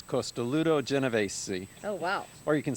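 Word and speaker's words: Costoluto Genovese: say the name on this one because it's costoluto geneves oh wow or you can say costoluto geneves if you want an English pronunciation but costoluto means ribbed and it's the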